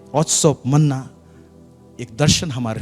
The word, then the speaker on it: Otsar: Spelling है OTSAR, लेकिन pronunciation है ऑत्सो।